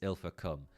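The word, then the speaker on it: Ilfracombe: I pronounced her this so it's not ill for it's ill for come okay okay fair enough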